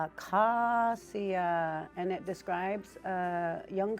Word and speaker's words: Acosia: It's pronounced Kakasiya and it describes a young swan taking its very first flight off water.